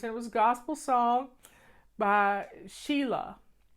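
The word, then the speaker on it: Selah: was gospel song by Sheila s e lah I think is the way it's pronounced and the song was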